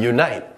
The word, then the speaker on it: unite: As mentioned previously, there's a slight y sound at the beginning, so we begin it with our y phoneme. And then we continue on you, as in oo, yun, the n, n phoneme.